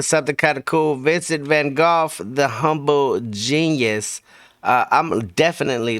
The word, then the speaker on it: Van Gogh: In the UK, we pronounce this man as Vincent Van Gogh, not Vincent Van Gogh. I'm going with the British pronunciation throughout.